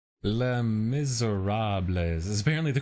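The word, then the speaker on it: Les Misérables: L Miserab is apparently the correct pronunciation.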